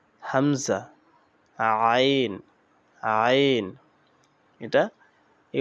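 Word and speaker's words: همزة: হামজা শক্ত ও পাতলা আওয়াজে, হামজা হামজা শক্ত হবে কিন্তু পাতলা হবে, হামজা।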